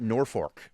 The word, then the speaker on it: Norfolk: uh they pronounce it Norfork. Norfork, Nebraska. Just Yeah. to keep the outsiders out to keep them on their toes, I think. Yeah. They call it Yeah. The locals call it Norfork.